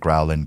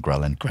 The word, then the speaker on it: ghrelin: adhd dyslexia i think i think it's grellan i always think growling ghrelin yeah so um basically